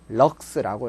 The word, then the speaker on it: 럭스: LX라고 적고 읽기는 뭐라고 읽는다? 럭스라고 읽습니다.